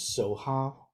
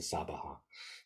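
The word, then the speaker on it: svāhā: although they have here this is SOA which is an an an alternate way sometimes that East Asian Buddhists pronounce the sabaha um but um before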